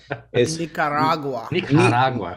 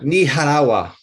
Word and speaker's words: Nicaragua: JD, you're saying it wrong because my wife is from there. It's Nicaragua. Nicaragua.